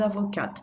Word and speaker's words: avocate: Je suis avocat, je suis avocate. So all we do here to get the feminine is add a E and sound the T that comes before, or the letter that comes before it.